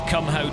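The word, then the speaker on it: Kumho: The thing is I'm the only I'm the only person on in this race with comeho tires. So uh and by the way that is how you pronounce it.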